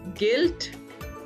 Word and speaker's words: guilt: गिल्ट, there again you is silent.